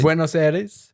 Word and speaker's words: Buenos Aires: Buenos Aires.